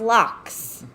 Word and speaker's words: loch: irish boxers out there lakes are called locks in ireland like in scotland loch lomond they're pronounced locks ireland's first official language